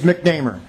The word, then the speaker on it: McNamar: pronounce your name correctly you know sometimes I pronounce it wrong it's mcnamer MC mcer okay thank you thank you Mr